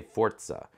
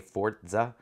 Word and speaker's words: Forza: my gaming channel they're like when I say fortza uh like it like I'm saying it how I'm saying it would be spelled like fo o r t Za a fortza uh fortza that's actually how you pronounce it